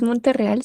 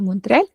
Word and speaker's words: Montreal: Singapur bien Montreal Bueno no es monterreal sino Montreal pero bien Está bien